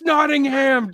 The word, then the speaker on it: Nottingham: Sherwood I was like Snot Sherwood no it's Nottingham just to Nottingham indeed spell it in